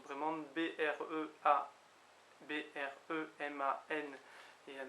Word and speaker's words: bremañ: Donc là, c'est sûr que ça se prononce Breman.